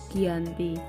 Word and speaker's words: Giyanti: yaitu di desa Janti dalam pelafalan Belanda disebut sebagai jianti dan tertulis yang dibaca sebagai Giyanti tempat tersebut sekarang dikenal